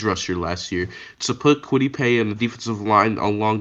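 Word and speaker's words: Kwity Paye: pay kawaii pay well too bad it's not pronounced kawaii but i agree with you because you're talking about quittipe um i agree he's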